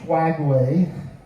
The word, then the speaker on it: Skagway: I cannot pronounce that correct. It's s a g h w a e y swagway which means uh windy place or rugged place which seems to fit that area.